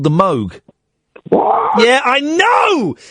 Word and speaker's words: Moog: um indirectly there's a a synthesizer called the moo I'm familiar yeah it's not it's called the Moog yeah I know it's pronounced Moog it was Robert Moog and it's spelled mg